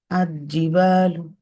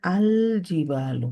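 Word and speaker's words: الجبال: না, এরপরে মার্জিং ইট, pronounce definite article লাম, লাম, লাম, লাম কমা Riya into the letter gym, like আর জিবালু, এরকম না বলে আল জিবালু হবে।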